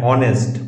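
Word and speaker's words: honest: বসবে এন বসবে যেমন এন আওয়ার এইচ এখানে উচ্চারণ হচ্ছে না এজন্য এন বসেছে ভাওয়েল সামনে বসেছে অ্যান অনেস্ট অনেস্ট অনেস্ট নয় কিন্তু অনেস্ট এই যে এন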